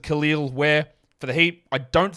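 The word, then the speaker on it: Kel'el Ware: two number 14 is Superman kalal pronounces it khil where for the heat I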